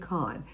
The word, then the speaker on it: Kahan: lot let's talk about Kahan a bit or Khan it looks like Kahan but it's pronounced I think Khan Khan was born in